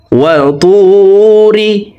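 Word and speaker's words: وَطُورِ: তকে মোটা করে উচ্চারণ করব, তার উচ্চারণ করা যাবে না। ত ওয়াও পেশ তু এক আলিফ টানবো, পেশের বাম পাশে জজমালা ওয়াও মদের হরফ, ডান দিকের হরকতকে এক আলিফ টানিয়া পড়িতে হয়।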